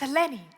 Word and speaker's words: Eleni: My dear colleague, Richard Quest, got my name wrong. I'm going to have... Richard, it's Eleni.